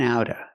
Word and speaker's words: out of: We hear the word and pronounced in and outa, outa. The T in out changes to a fast D because it's between vowels. In and out of lanes. You can say of, in and out of lanes, but because of is before a consonant, we don't have to pronounce the V sound.